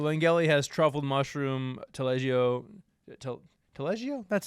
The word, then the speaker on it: Taleggio: So, Angelia has truffle mushroom, Taleggio, Taleggio? That's how you pronounce it, and Fontina cheese, and white truffle oil.